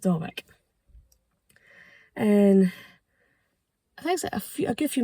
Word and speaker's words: Dawyck: uh but again I I'm sure it's pronounced Dock and I think a